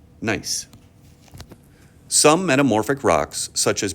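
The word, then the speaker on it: gneiss: foliated texture of and this is a strange word it's pronounced nice some metamorphic rocks such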